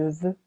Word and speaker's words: veux: as savoir il sav dit be careful irregular I want je veux silent x we know as connaître